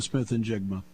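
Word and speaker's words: Smith-Njigba: who had the big chunk Jackson Smith Jackson Smith and jiga there you go um it's my job to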